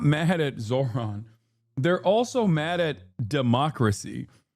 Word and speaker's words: Zohran: Bernie pronounced it better than you. Yes, I know it's Zohran Kwame Mamdani.